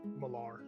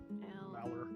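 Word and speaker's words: Malar: I forgot what you said, how it's spelled. It's M-A-L-A-R, Mallar. Mallar.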